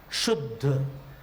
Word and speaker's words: शुद्ध: शुद्ध, अब शुद्ध में शु जो है वो रस्व है, लेकिन उच्चारण में स्वराघात पड़ रहा है तो उसका जो मात्राओं का क्रम है उसमें 2 मात्राएं हो रही है तो उसको गुरु गिना जाएगा। शुद्ध, शु 2 और ध 1, 3 मात्रा का शब्द हो गया।